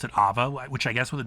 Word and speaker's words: Aava: I also think she pronounced it Aava, which I guess with the double A's makes sense.